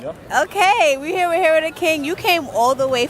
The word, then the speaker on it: Hero Da Kyng: literally in Times Squares with Video City with Hero the King, right? That's how you say it? Yep. Okay, we're here with Hero the King.